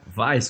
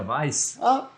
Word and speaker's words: Weiss: Weiss, conhece a cerveja Weiss? É isso aí, mesma coisa.